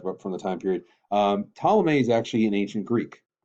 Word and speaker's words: Ptolemy: the first one is Ptolemy that's this gentleman right here that P is silent now technically I'm so I talked about from the time period Ptolemy is actually an ancient